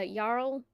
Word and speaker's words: Jarl: Uh Yarl spelled Jarl pronounced Yarl.